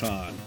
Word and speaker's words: Han: He's got a silent H in this Han. A little different.